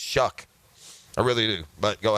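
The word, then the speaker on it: Shough: than Trevor Lawrence yeah age matters yeah that's shuck it is pronounced shuck okay Anthony came in at whatever 19 20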